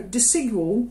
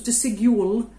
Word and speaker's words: Desigual: i've chosen this week so deceival i googled how to say it because i didn't know if it was decidual so it's a spanish